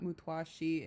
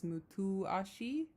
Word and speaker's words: Mutuashi: I just realized I'm pronouncing this word incorrect. It's not Mutwashi, it's Mutuashi. Mutuashi. So, forgive me. I keep saying Mutwashi, but it's Mutuashi.